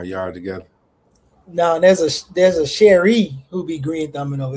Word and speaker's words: Cheire: No, I mean, but my name is confusing because it's French, and so it is technically Cherie, but it's like we say it the American way, so it's like Cherie,